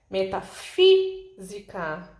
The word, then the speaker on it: metafísica: Metafísica, o fi é o mais forte, então essa é a sílaba tônica.